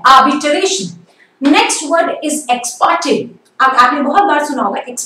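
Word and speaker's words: ex parte: नेक्स्ट word is एक्सपार्टे. आपने बहुत बार सुना होगा एक्सपार्टे, इट्स a very common term. It's नॉट एक्सपार्टे, र is again silent, एक्सपार्टे.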